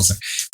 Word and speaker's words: Sartre: Jean-Paul Sartre. Yeah. Jean-Paul Sartre.